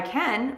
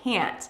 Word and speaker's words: can: When you want to say yes, I can, make the vowel sound very short.